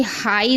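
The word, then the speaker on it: high: अगर किसी शब्द के अंत में GH या GHT हो तो GH साइलेंट रहता है, यानी आखिरी में अगर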